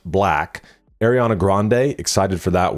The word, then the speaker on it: 6LACK: 6LACK, which I believe is pronounced black.